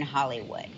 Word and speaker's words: Holywood: We spell it with one L, so I guess hundreds of years ago it was like Holywood, but then it just evolved into Hollywood.